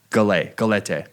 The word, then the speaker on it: galette: Had a little nice cappuccino to go with it, but a French galette.